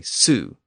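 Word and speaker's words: sū: They also had the word sow, and just as a cow was coo, a sow was a soo.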